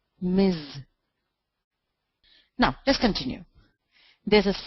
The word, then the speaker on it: Ms: m s full stop pronounced as Miz now let's continue there's